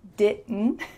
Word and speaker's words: didn't: didn't, which is pronounced didn't. But it can be pretty hard to hear that final negative part because the T is stopped short in your mouth.